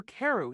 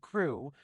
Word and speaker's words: Crew: Madame Pascal pronounced it as if it were Carew instead of Crew, but that might be merely a matter of pronunciation.